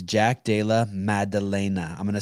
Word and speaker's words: Della Maddalena: listen guys listen listen people listen it's jack dala madalena i'm going to spell it for you jack you know jack and